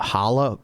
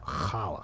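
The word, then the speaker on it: challah: grilled I think uh hala bread. I know there's a C in front of that word but you don't pronounce the C.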